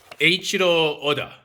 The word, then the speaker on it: Eiichiro Oda: It is drawn by Eiichiro Oda.